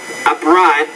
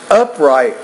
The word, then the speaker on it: upright: Upright wrestling was conducted... No, it's upright wrestling there, not upright. So the stress here is on the first, not the second syllable.